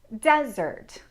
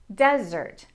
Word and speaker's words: desert: The difference is in where the stress lies. Dessert desert dessert desert. Can you hear which syllable I'm stressing most in dessert and in desert?